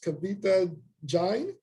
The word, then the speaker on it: Kavita Jain: I believe I'm pronouncing this right. Ms. Kavita Jain. I hope I pronounced that right. Yes, that's correct.